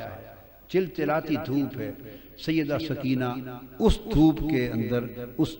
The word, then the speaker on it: سکینہ: لخت جگر شہزادی سیدہ سکینہ، اصل نام ان کا عربی وزن میں سکینہ ہے، عرف عام میں سکینہ چلتا ہے، اصل لفظ سکینہ۔ سیدہ،